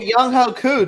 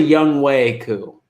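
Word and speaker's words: Younghoe Koo: the kicker situation oh young hoku dude young ho yo dude all day it's actually young wei ku by the way that's how you pronounce it young way whatever but young hoe is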